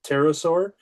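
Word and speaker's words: pterosaur: Terasaur. So, why can't you hear a terasaur use the bathroom? Because the P is silent.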